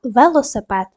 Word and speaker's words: велосипед: склади так в лосипед поставте наголос так наголос на и другу дамо характеристику кожному